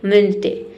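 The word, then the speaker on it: Wednesday: तो वेडनेसडे में इसमें डी लेटर मतलब हम इसे पढ़ते हैं वेडनेसडे।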